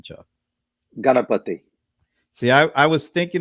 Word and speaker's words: Ganapathi: want to butcher it so how do you pronounce your last name chuck galapati see i i was thinking it was that